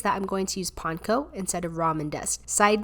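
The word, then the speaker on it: panko: so that's why panco is breadcrumbs and so pank will be the correct pronunciation over let's say something like Pano which is probably sort of the Americanized version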